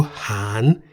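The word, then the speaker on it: หาร: toe there is also Han in the rising tone meaning to divide note that ra sounds like an N at the end of a syllable so we say han han is in the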